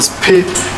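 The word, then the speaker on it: Siphiwe: A sixth witness called Sipiwe, or Spe, it's spelled S-I-P-H-W-E, could not compile any faces, but he mentioned that he saw an old green/blue sedan near the danger box.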